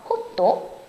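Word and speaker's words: ホット: 특이해 잠깐 확인해 볼게요 뜨거운 건 원래 영어 핫해 왔는데 호도라 발음을 해요 그래서 호또 또 아이스는 그대로 아이스예요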